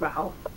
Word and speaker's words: Rowell: And she said it rhymes with towel. So there you go, it's Rowell.